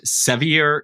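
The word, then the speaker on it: Sevier: and your background so you grew up in seier County Tennessee a did I pronounce that right and is that correct it's severe County and Brian's actually the local I didn't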